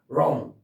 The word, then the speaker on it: wrong: 그냥 wrist, wrong, wrench 이렇게 W 발음 하지 마세요.